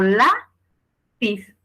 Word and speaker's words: lápiz: fuerte en este caso si yo pronuncio digo la pis Cuál es la sílaba que suena más fuerte la sale tu siguiente obviamente es su sílaba tónica es la y la palabra queda